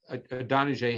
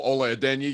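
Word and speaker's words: Ola Adeniyi: And that was actually the sack that Adonijah had. Is that how you pronounce it, Adonijah? Oh, Ole Adenyi, yeah.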